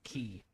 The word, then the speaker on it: quay: Someone tell the entom tell me the enthmology of how we ended up calling um pronouncing qu u a y key.